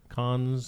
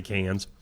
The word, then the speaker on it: Cannes: Cannes. I've just heard it on TV. They say Cannes.